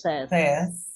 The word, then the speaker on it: says: Says.